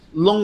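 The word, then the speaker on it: 龍: idea right and then lo long is like Lu ng but it's kind of a low falling tone lone no low means dragon no yeah so you say lacy long so it's literally like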